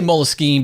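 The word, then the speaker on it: Moleskine: in the United States I say mole skiing but there's no one right way to say it Timothy Whalen thank you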